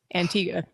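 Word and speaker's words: Antigua: Which is near Antigga. And so did you figure out exactly how to pronounce that? Antigga.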